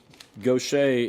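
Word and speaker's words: Gauthier: And she pronounces it gocha.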